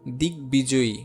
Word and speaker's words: দিগ্বিজয়ী: যেমন দেখো দিগ্বধূ, এইখানে বফলার উচ্চারণ 2 বার হচ্ছে না। দিগ্বিজয়ী, দিগ্বিজয়ী, এই বফলা কিন্তু এটার সাথে সংযুক্ত ছিল। হ্যাঁ, সংযুক্ত থাকার পরেও এটা কিন্তু 2 বার উচ্চারণ হচ্ছে না।